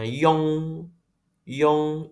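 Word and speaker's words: iong: Ini bacanya yong, yong. I-nya nggak kedengaran ya.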